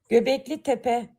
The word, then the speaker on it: Göbekli Tepe: Let's see how the website pronounces it. Göbekli Tepe.